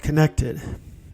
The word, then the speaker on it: CNCTD: I just finished an app with the help of a lot of people called Connected, and it's spelled CNCTD.